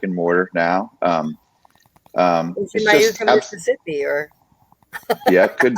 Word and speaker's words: Iuka: Is it Iuka, Mississippi, or? Yeah, it could be. How do you say it again? Iuka? What? Iuka.